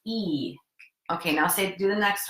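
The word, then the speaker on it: 一: You say it like this: E.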